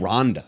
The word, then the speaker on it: Randa: But her name Oh, her name's Randa. Rhonda.